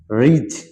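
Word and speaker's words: ridge: budget এখানে ডি উচ্চারিত হবে না বাজেট বাজেট রিজ রিজ মানে পাহাড়ের কিনারা ফ্রিজ মানে ফ্রিজ স্যান্ডউইচ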